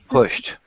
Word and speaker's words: pushed: It is the T sound. Yeah. Pushed.